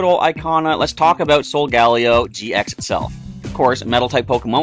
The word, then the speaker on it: Solgaleo: I go with Solgaleo because it sounds like Sol for solar, Galio for galaxy, and Leo, so Solgaleo.